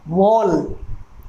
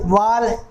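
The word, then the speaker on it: wall: Toll, एक बात का ध्यान रखिए, इसे काल, बाल, वाल, टाल नहीं कहते हैं, इनकी साउंड है कोल, बोल, टोल, वॉल, इस प्रकार से रहेगी।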